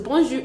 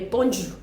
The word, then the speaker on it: bonjour: it the wrong way you would hear bonu bonu bonon I think the funniest I've heard is but then how is it how is it properly pronounced we the thing is that that J does not exist in French and that's what most many people do not know we do not have that that thick J in French what we